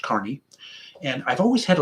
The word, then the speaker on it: Kearney: like it sounds like kearney but it actually is pronounced carney and i've always had